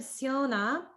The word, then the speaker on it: syona: So in the word Siona, it sounded a little bit like you were pronouncing as a sh sound. It may just be because of the zoom, but that's a regular S.